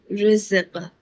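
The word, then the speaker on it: رزق: When raw has a kasra carries, so it is always pronounced light, like rizq.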